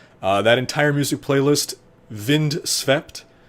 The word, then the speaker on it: Vind: that entire music playlist vind spelled the way it's pronounced uh you can find